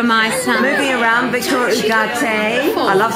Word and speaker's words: Ugarte: Moving around, Victoria Ugarte. I love saying that word. Isn't it a wonderful name? Is that how you actually pronounce it? Ugarte.